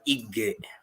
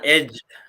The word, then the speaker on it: Ige: It's Ige, lakini una pronounce generally Ige. Usiseme tena edge ama egg.